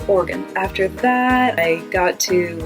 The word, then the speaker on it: Oregon: They do not separate the 3 syllables and say Oregon, which is how I learned it. They just say Oregon.